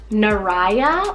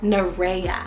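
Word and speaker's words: Naraya: I find this one you can definitely um pronounce it a couple different ways but it's Nara or Nara spell n a r a y a Nara or Nara really depends on which way you want to go but it's just a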